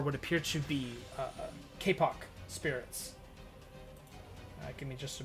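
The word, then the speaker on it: kapok: appear to be uh kpo Spirits give me just a moment here I'm going to make sure I'm pronouncing that right Kpop Spirits k kic k a p p o k BTS these are a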